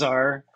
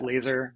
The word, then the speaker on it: Lazar: going to be talking about Bob Lazar and Area 51. Okay, and Now, it's before I pronounced dive into this, Lazar, not like yeah, laser or something.